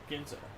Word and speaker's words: Ginza: Or how do you pronounce that? I don't know. Ginza, I believe. Ginza? Right. Yeah. Ginza.